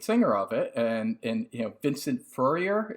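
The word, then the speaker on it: Furnier: of it, and Vincent Furrier, is that how you pronounce his name? He's an Italian guy, but I don't know too many Furriers. It's Furier.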